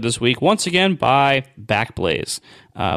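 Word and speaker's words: Backblaze: week once again by back Blaze uh which I still pronounce sometimes in my head as back blaz because I think it sounds fancier but God anyway they're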